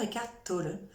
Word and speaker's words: Eckhart Tolle: vous parler de l'auteur l'auteur et cac tôle pourquoi je prononce comme ça et catholique parce qu'il est allemand il est né en